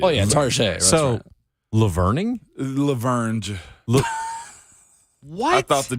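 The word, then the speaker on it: La Vergne: I must admit, I got to stop putting the G in it. Laverne is Laverne.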